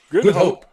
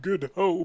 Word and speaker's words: Good Hope: is good though okay how do you pronounce it you pronounce that good oh as in good and hope good hope okay i i heard good hoe but it's good hope here's here's a question